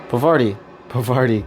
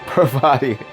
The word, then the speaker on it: Parvati: Pavardi. God, I'll never say her name right. Parvati.